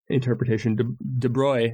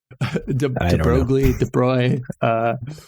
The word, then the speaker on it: De Broglie: Because actually at the same time that they were coming up with the Copenhagen interpretation, De Broglie, I think is how you say his name, right? De Broglie.